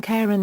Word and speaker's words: Charon: pronunciation of the name the practice of following the classical pronunciation established for the mythological fyman Karen is used by Major English language dictionaries such as the Mariam Webster and Oxford English Dictionary these indicate only one pronunciation of Karen when referring specifically to Pluto moon with an initial k sound speakers of many languages